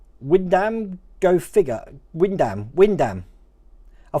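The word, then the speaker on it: Wymondham: all right um so windham is pronounced windham go figure what windam go figure windam windam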